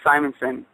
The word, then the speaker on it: Simonson: correctly yeah you know i used to say simpson but i think it's simonson yeah probably but uh yeah